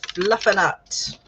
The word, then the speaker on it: fluffernutt: It rhymes with butternut, which was my secret word for how to fast draft a novel from yesterday.